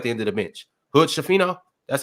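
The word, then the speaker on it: Hood-Schifino: with who's at the end of the bench Hood shafin that's how you say his name Aquafina that's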